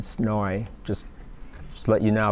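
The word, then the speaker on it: SNOI: not of interest and they pronounce them as soy and snowy just just let you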